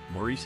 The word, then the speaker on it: Maurice: Maurice Evans, who played Samantha's father, was often called Morris by his co-star Agnes Moorehead due to his first name's traditional English pronunciation.